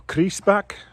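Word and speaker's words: Grießbach: in a place called Grease back or crease back how it's pronounced a bit of a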